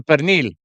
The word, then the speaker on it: pernil: Oh, so Katie said his wife The pernil. Pernil, I'm sorry. I got to pronounce it the way he would.